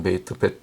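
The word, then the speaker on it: בית: 베트 베이트 베트 어떨 때 제가 베이트라고 발음했더니 어떤 사람이 밑에 댓글되고 틀렸다고 그런는데 어 베이트도 맞는 것입니다. 베트 보통 베트라고 발음하는데 베이트라고 해도 틀린 건 아니에요. 그렇게 발음할 때도 있습니다.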